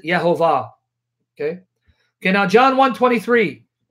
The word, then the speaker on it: Yehovah: And he will give you evidence from rabbinic sources that the rabbis have always known the correct pronunciation of the name, and they pronounce it Yehovah.